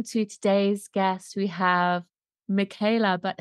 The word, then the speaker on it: Michaela: today's guest we have Michaela but her real name in her native tongue is pronounced and I just really